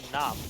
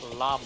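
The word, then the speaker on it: lăm: The last 5 isn't num, it's lum with an L.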